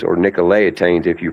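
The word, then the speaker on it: Nicolaitans: Most Americans pronounce it nicolatians, but the corre correct pronunciation is nic nicotains in Greek.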